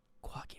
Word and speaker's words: Quaggy: Quaggy rhymes with froggy.